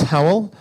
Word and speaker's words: Hywel: uh my name's Howell Howell is a Welsh name which means it's almost impossible to predict the pronunciation when you see it written down but it probably helps if you see a picture of some wolves because how is pronounced like the sound a wolf makes so I work for